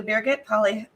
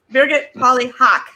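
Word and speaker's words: Birgit Pauli-Haack: to be talking to Birgit Polly. I said her name wrong. Oh my goodness, it's been a long 24 hours. Birgit Polly Hawk, there we go, who's going to present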